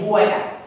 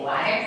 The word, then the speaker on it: water: You say water. See? Water. See your mouth goes back? We say water.